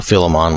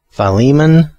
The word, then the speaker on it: Philemon: the correct i'm sorry correct pronunciation would be philemon with a with a long eye at the beginning philemon or philemon either way